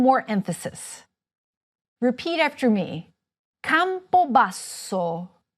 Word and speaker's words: Campobasso: Repeat after me: CAMPOBASSO, Campobasso is the capital of the Molise region. Did you hear how the double "s" was held for longer?